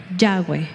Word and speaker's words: Yahweh: Porque la letra Vav, because the letter Vav suena como W. Sounds as a W.